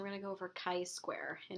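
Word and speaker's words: chi-square: going to go over Kai square and it's not Chi square or chai square um in statistics we pronounce it Kai Square we're going to go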